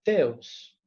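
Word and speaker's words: Ζεύς: Zeus, en griego se pronuncia Teus y se escribe con una letra inicial que se pronuncia como una T.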